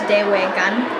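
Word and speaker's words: dewe'igan: In my culture, drum is pronounced Dewegan, and it roughly translates to heartbeat.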